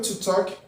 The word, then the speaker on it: talk: talk e to speak o verbo to talk que vocês podde perce letra L Som aono Ok a pronúncia É É Então esse l não vai ter som é ele é o